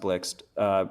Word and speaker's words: Blixt: Blixt, Blixt, Blixt, great wallet. Not Blixit. That's right. I think it's pronounced Blixt.